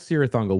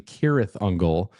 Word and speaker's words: Cirith Ungol: I mean these guys were playing as Sirungle which of course we have to also mention